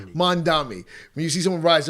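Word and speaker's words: Mamdani: Mandami. Mandami.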